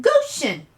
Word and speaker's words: Goshen: It's called Goshen. Goshen? Yeah, rhymes with lotion.